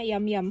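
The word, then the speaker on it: Yum Yum: guys ini Ajinomoto punya ini bacanya yam yam kenapa aku tahu bukan karena aku bisa bahasa thailand tapi karena ada tulisannya tulisannya kalau di Indonesia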